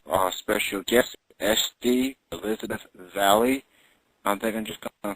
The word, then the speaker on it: Velle: what did you say would you ever pronounce your last name rashelle oh oh it's um Valley really so you don't you don't pronounce the two you don't pronounce the two El like sh like kind of chit sound like most Italian no like really it